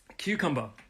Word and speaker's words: cucumber: 3 syllables, cucumber. The stress is on the first syllable.